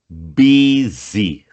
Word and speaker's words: busy: Which days are you busy? No vocabulário tem jeito de falar essa palavra. Escreve bu, mas fala B. Busy.